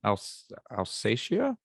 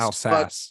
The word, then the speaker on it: Alsace: I didn't know that the designer of the Statue of Liberty was from Alsatia. Is that what it is? Alsace is how I've always heard it pronounced. Alsace.